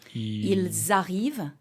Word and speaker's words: Ils arrivent: But in verbs, the ENT is always, always, always silent. So, for example, like Ils arrivent, okay?